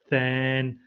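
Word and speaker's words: tanh: And because you pronounce them funny, shine, than, it just doesn't make sense in English anyway.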